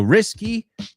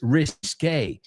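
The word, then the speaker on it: risqué: See K in the risky. So risky versus risque.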